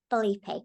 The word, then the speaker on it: Filipe: much for coming in today um your name's bipe correct did I pronounce that right yeah that's right oh cool